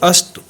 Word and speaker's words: अस्तु: क्यों ऐसा कहते हैं क्योंकि जो त है उसमें छोटा उ की मात्रा है छोटा उ और बड़ा उ के उच्चारण में थोड़ा सा अंतर जितने देर में छोटा उ का उच्चारण होता है उससे दुगने समय में बड़ा उ का उच्चारण होता है जैसे उ उसी तरह से अस्तु अब इसी तरह से